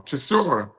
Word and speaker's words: Chisora: guys like Derek Chisora, what I always pronounce his name wrong, Chisora, can fill up the fucking arena.